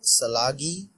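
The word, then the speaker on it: Tsalagi: I agree, and I think I know the post you're talking about, and it's pronounced Chalagi, which basically means Cherokee.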